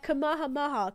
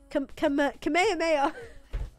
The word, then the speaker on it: Kamehameha: Oh, the Kama, Kamahamaha, Kamahimaha, Kamehameha.